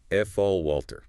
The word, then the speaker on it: falter: To lose strength, momentum, or speak hesitantly, falter. F a l t e r. F all walter.